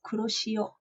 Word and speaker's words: Kuroshio: It's as you say it, Kuro, as in Kuro is Kuro, the yeah. color black, and she is Shio. Shio, Kuroshio.